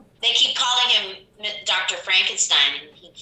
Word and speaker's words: Frankenstein: I think it's It's supposed to be Stein, but I think in Americans usually say Steen, like Uh-huh.